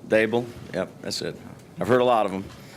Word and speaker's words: Daboll: it's Daboll. D like table, Daboll.